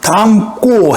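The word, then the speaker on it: 닮고: 담고 해볼까요? 엄마를 담고 해볼까요? 이것도 장군 탈락해서 니을 발음 안 하죠, 이번에는. 니을 탈락시키고 미음 발음하고 담고라고 하잖아요. 그래서 미음도 요거 미음으로 발음하는구나. 발음은 예사 소리를 된소리 담고라고 합니다.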